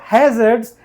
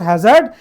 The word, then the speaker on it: hazard: Somebody pronounce it hazard, but no, it's not hazard, it is called hazard, because it's noun and it's adjective, so we need to stress on the first syllable, okay.